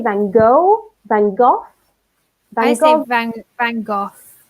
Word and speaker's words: van Gogh: yeah he's saying because there are many different pronunciations of his last name I've heard it English you say then go van Gogh by same thank thank gosh van Gogh yes